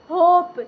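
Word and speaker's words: hope: ओ होता है और अंतिम ई का अपना कोई ध्वनि नहीं होता है तो देखिए य पर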